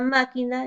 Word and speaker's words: máquina: Ejemplos, tenemos la palabra lógico, lleva la mayor fuerza de voz en la sílaba lo, y la palabra máquina lleva la mayor fuerza de voz en la sílaba ma.